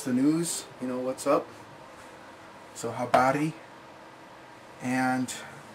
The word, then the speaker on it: habari: And keep in mind all R's are rolled in Swahili, so if you don't know how to roll your R's, you're probably going to want to learn how to do that. They'd say habari.